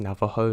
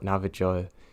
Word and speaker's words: Navajo: them and yes I'm fully aware that it's pronounced Navajo not Nava joy its lychee because I've spent my entire life